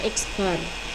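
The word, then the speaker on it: x̄: diatasnya ada jari speknya ini dibaca eksbar eksbar sama dengan jumlah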